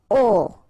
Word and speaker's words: aux: Okay, so you can see that here you combine a plus les, and you will get this aux, okay, and then phonetically you produce it or you pronounce it o.